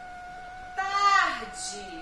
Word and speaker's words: tarde: A palavra tarde. Eu já trouxe separado em sílabas. Olha só. Tarde. Tarde. O E no finalzinho tem som de I. Vocês já sabem disso.